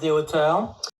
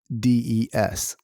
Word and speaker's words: Deshauteurs: Hi guys, my name is Deshauteurs. See? And yeah, that's his last name. That's how you pronounce Deshauteurs.